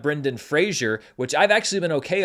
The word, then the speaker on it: Brendan Fraser: this entire award season, and then of course Brendan Fraser, not Brendan Fraser, which I've actually been okay on, but a lot of other people have struggled with.